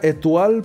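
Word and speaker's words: Étoile: Se debería pronunciar Etoil porque es Etual porque es francés, pero que le den a los gabachos, así que Etoil.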